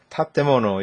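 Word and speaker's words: 建物: 우리가 일본의 건물을 이렇게 우리가 쓰고 읽을 때 이걸 타테모노 이렇게 읽거든요. 타테모노. 타테모노 뭐야? 다떼모노라고 읽는 사람도 있어요. 다떼모노라고. 근데 타테모노 원래 이제 정확한 음때는 타테모노가 많고 여기 맨 앞에 와 있죠. 얘. 맨 앞에 와 있으니까 청음으로 타.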